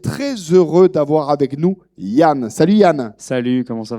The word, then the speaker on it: Danh: Donc en fait, le D en vietnamien, écrit comme ça, se prononce comme le Y.